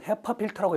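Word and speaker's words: HEPA filter: 다음에 마지막으로 비읍번 헤파 필터라고 읽어요.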